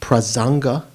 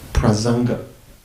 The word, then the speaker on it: Prasanga: Prasanga means consequence in Sanskrit.